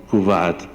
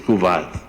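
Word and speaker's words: couvade: Hay una costumbre en las islas del Pacífico que Margaret Mead describe como CUVAD, C-O-U-V-A-D-E, no sé si lo pronuncio bien, es CUVAD.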